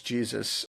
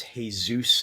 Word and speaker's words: Jesus: It's actually James Jesus Angleton. His mother was Mexican. Yes. And it was pronounced with the Hispanic pronunciation.